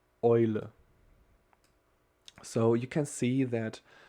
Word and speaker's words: Eule: So, for example, if we put E and U together, it will be pronounced like oi, not EU, but oi. Okay, the example for this letter is, for example, Eule.